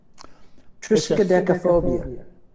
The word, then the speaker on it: Triskaidekaphobia: Trichadiosophia. I can't. Triskaidekaphobia. Who said that? I did, Doug. Oh, okay. Well, you win the pronunciation contest.